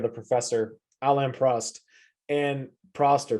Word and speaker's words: Prost: alain prost and proster prost i can't even remember how to say it so it's fine i think it's prost i think it's that's how the british always say it on podcasts to listen to prost so um